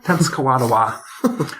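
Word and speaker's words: Tenskwatawa: Native American nation that I'm sorry could you pronounce the name t kadawa tens kadawa um he's also known as the prophet so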